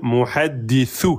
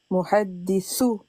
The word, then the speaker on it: muhaddithu: Faut que tu arrives à dire muhaddithu, sous. Muhadithu. Moi j'entends sous. Sou. Il faut que tu sors, faut pas que tu t'enlèves ta langue trop vite. Muhadithu. Elle est pas bonne la prononciation.